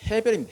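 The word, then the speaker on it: הבל: 그리고 아벨은 헤벨입니다. 헤벨.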